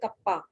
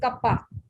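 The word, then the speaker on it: kappa: ये के जैसा नहीं है, थोड़ा गोल होता है, और इसको पढ़ते हैं कप्पा। क्या पढ़ते हैं, बोलो जरा इसको 1-2 बार। मैं ma'am कप्पा। कप्पा। This is नॉट कापा, this is कप्पा।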